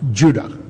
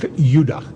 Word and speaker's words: Judah: were called Benjamin and Judah more properly pronounced Yuda because we didn't get the harder sound to the J until about 200 years ago so this is what